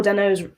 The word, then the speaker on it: Dano: But what I also liked about Paul Dano's, I don't know how to pronounce his last name.